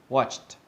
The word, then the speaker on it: watched: We blend them together and it does end up sounding like a little bit like a T. So listen carefully. Watched, watched, watched, worked, worked, worked, shopped, shopped, shopped. Okay, notice how the ending of the pronunciation sounds like a T instead of an ED, all right?